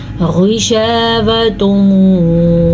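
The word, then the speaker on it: غِشَاوَةٌ: غشاوۃ ولہم، غین کو پر پڑھیں گے کیونکہ غین ہمیشہ ہی پر یعنی کہ موٹا پڑھا جاتا ہے.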